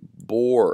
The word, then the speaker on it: Bohr: something known as the bohr effect and i'll just spell that for you guys it's b o h r this is the bore effect and the bohr effect